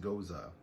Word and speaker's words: Gose: g-o-s-e is a style of beer and it's pronounced goza yeah don't ask me i didn't invent it